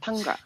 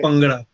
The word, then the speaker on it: Bhangra: But when you read it in Punjabi, you say it. Bhangra. It's like a P and a B at the same time, which is easy for